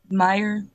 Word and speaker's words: Meyer: How do you pronounce it? Meyer.